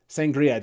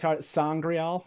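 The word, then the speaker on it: sa'angreal: Yeah, that one is like sangrial is like how they pronounce it.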